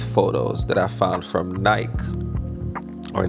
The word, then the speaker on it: Nike: And I had these photos that I found from Nike, or Nike, however you pronounce it. I'm Jamaican, so we say Nike, right?